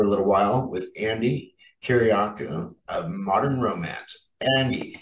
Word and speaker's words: Kyriacou: hang again for a little while with Andy Kyriacou of Modern Romance. Andy, how are you? Oh, well, thank you. And it's so nice. You actually said the name correctly, Kyriacou.